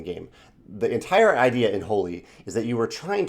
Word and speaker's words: Holi: I believe the game is pronounced Holi.